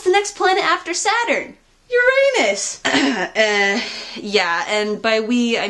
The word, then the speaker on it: Uranus: You know, the actual scientific pronunciation is Uranus.